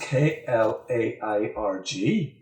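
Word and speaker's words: Clergue: don't care 52 but it says pronounced KL airg we're very very nice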